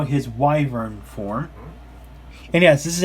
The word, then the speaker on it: Wyvern: Kingdom viewers out there, it's a Wyvern, since you pronounce it that way. So, yep. Yeah. And of course, here in the States we pronounce it as Wyvern, but in the UK it's pronounced as Wyvern.